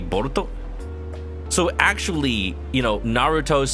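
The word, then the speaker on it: ボルト: pronounce say for example the word bolt in Japanese would be boruto so actually you know Naruto's son boruto his name is just bolt his his name is actually just bolt like forget boruto his name is Bolt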